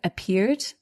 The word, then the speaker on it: appeared: So at the end of appeared, the ed is pronounced just like d appeared.